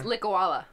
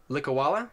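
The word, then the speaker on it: Likouala: I'm gonna try to pronounce this. The Likuala? It's... I did find this one. Oh, okay. It's Likawala. Likawala? Yeah. Likawala Kinda like swamp. lick a koala, but like Likawala.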